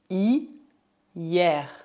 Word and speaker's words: hier: Por outro lado, preste atenção às palavras que também terminam em E, R, mas que devem ser pronunciadas R. R. Por exemplo, hier, hier, hiver, hiver.